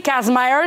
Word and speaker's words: Kazmaier: Patty Kazmaier, ça se prononce comme ça s'écrit, difficilement.